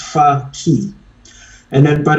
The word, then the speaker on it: Fakhi: The how it's pronounced, it's far key. It's a key that takes you far. So it's far FAR and key for opening. So it's far key.